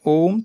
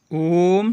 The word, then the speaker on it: ওম: এর সঠিক উচ্চারণ হল মুখ খোলা রেখে আ ধ্বনি, ঠোঁট সংকুচিত করে ও এবং ঠোঁট ফিরিয়ে এনে ম করা।